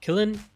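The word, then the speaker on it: Qilin: be from the Russian-based Kilin and ransomware operation. I think that's how it's pronounced. It's with a Q.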